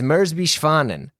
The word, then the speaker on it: Merz b. Schwanen: It's MSB fondan. I'm I'm trying to do it.